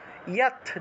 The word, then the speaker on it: যৎ: মুর গ্রাহেন আত্মনো, ইয়ৎ, যৎ আছে, উচ্চারণ হবে ইয়ৎ।